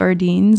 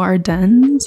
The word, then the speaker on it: Ardennes: To me, it looks like Ardennes and then I think of sardines. But I think it's French, so Ardennes, I think is how you would say it.